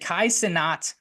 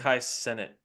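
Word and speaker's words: Kai Cenat: stuff he did the is it kaai sinat or how do you say this I think it's Kai senate senate okay that's what I've heard I don't know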